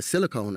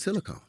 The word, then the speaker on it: silicon: to pronounce the element and it silicone no it's silicon uh silicone is a